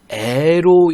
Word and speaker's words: 의: 이 관형격 조사 의의는 글자 그대로 의로 읽는 게 원칙이고요, 애로 읽는 거를 허용합니다. 자, 그래서 나의 살던 고향은 나의라고 읽어도 되고 나의 살던 고향라고 읽어도 됩니다.